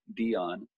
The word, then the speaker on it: Dion: Just anybody can Google me at Dion. 1 word or 3 words. Either way, Beyond think. Like Beyond Sight or whatever. No. Dion, like Dion Warwick or Dion Sanders.